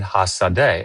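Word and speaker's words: השדה: I mean, he probably knows Hebrew then, because like, you know, you could pronounce that a bunch of different ways and get it wrong, and that's how it's pronounced, right? Hasadeh, the accent and everything.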